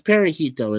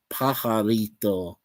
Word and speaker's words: Pajarito: As Perejito instead of Pajarito.